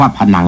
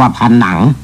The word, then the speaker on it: พนัง: น้ำ อ่า คำ ว่า พนัง นี่ นะ ครับ ผม ขอ เสริม นิด หนึ ผม ได้ ยิน ท่าน ผู้ ประกาศ ใน โทรทัศน์ ท่าน อ่าน ว่า ผนัง ผม ไม่ ว่า อะไร